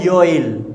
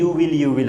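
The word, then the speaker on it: you'll: अब यू विल को हम लोग शॉर्ट में बोलेंगे तो वो हो जाएगा योइल। क्या हो जाएगा? योइल। जैसे मैंने कहा वेल आप जाएंगे तो योइल गो, आप कल आएंगे योइल कम, ओके आप मुझे बताएंगे योइल टेल मी, योइल बोलना है ना कि यू विल, ओके।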